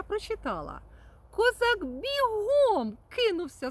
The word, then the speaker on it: бігом: бігом від іменника біг. Ось так. А в іншому творі я прочитала: Козак бігом кинувся з хати, тримаючи в руках шматок сала.